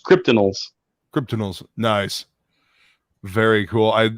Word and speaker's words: Cryptidnals: cryptid kryptonials kryptonites yes it's supposed to be a mashup of cryptid and criminals so it's kryptonials cryptanals nice very cool